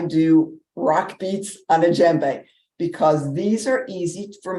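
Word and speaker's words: djembe: this is in jembe it's spelled d-j-e-m-b-e you don't pronounce the d so I don't do African drumming and they don't do drum circles I do rock beats on a jembe because these are easy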